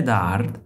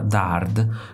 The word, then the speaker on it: dard: nel titolo che include una parola dard somigliante all'inglese hard, ma che nella pronuncia francese richiama dart, quindi anche oggetto d'arte.